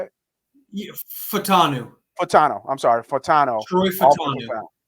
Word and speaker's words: Fautanu: Yeah, Fautanu.